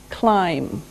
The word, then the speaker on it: climb: verb is climb climb now it doesn't sound like it looks now if this letter b is silent climb okay we climb a